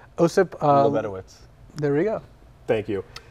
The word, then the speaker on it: Lebedowitz: Osip Lebedowitz.